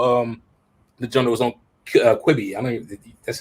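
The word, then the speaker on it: Quibi: about the little um the general was on quibby that's how you say it quitting yeah the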